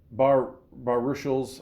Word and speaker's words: Baruchel: Jay Baruchel's, oh shit, you know what?